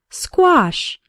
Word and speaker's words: squash: net first let's work on the pronunciation SQ sounds like in the word square the letter A has the a sound like in father and wash and the final sh sounds like in fish and cash say the word after